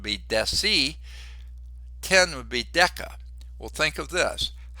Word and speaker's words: deca: 10 would be deca. Well, think of this. What do we call 10 years? A decade, a hard C sound. Decade, like deca, whereas a tenth of something would be a decimal or a deci.